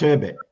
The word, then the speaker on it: Achebe: I think there's an author called I don't want to Chinua mispronounce. Achebe.